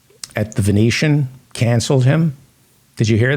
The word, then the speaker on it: Venetian: the Venetian or the veneton to hear a man-child who thinks Venetian is pronounced veneton they're paying money to